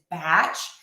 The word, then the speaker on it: batch: No, it is batch with that very open batch, batch, batch.